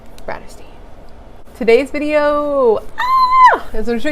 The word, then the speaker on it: Bratterstein: If you've never been here before, hello, my name is and my channel name is pronounced Bratterstein.